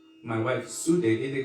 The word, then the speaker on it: Sudevi: Like in Bengal, they don't call my wife Sudevi, they call her Shoe Devi.